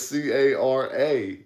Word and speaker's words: caramel: No, it's C-A-R-A-M-E-L. It's caramel is how it's spelled. Then that's what it is. The A just don't go silent.